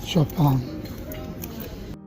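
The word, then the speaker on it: Chopin: Chapan museum is spelled as Chapin but they pronounce it Chapan refurbished for the 200th birth anniversary of shopon in 2010 this multimedia museum is one of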